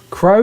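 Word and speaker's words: Kro: crow oh my plan announcing that wrong k-r-o crow yeah and he's a deviant i assume rush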